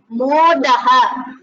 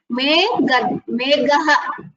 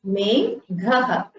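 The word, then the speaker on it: मेघः: Modaha. No, Meghaha. Meghaha. Cloud. You should pronounce it as Meghaha. The Gakara with the Mahaprana. Meghaha.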